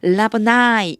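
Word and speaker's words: Rabboni: 영어 발음하실 적에는 보통 이 끝에 아이만 오면 아이 발음이 나요. 그래서 라보나이 이렇게 읽어주시면 돼요.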